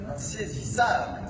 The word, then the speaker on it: Insaisissable: that is called Troublemaker, or in French, it's pronounced Insaisissable.